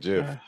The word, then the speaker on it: GIF: It's a and it's a GIF because it's Christmas, so we're gonna go with the hard G.